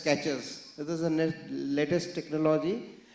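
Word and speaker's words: QuEChERS: So, sir has told, I have one that's called QECHERS, quick, easy, cheap, effective and drug safe, is pronounced as catches.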